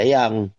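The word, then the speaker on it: djang: yang disempurnakan tau kan DJ a n g di Jang tulisannya dibaca yang disempurnakan s537 Inilah hidup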